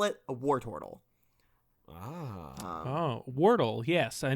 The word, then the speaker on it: Wartortle: could be please maybe is it pronounced wartle it's War Turtle everyone knows that well I'm say you're the only one that doesn't know you're a shitty Professor it's war turttle three syllables no yeah no yeah